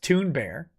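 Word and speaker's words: Thunberg: gawker's death rattle says apparently greta's name is pronounced toon bear uh biden coleman says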